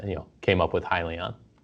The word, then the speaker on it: Hyliion: gonna say the name it is hi Leon and it stands for hybrid lithium ion so that was the